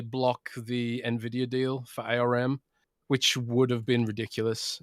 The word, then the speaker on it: ARM: arm oh I'm sorry I always call them irm because I spell it with capital letters but they're kind of screwed on because arm is barely profitable and